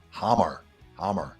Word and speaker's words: Hamme: We were in Hammer. I think that's how you say it. Just drop the R on the end.